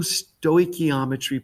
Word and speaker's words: stoichiometry: equations to do true stoichiometry problems now the first thing is i want to make sure you know how to pronounce this word stoy key all right ometry stoichiometry now technically all right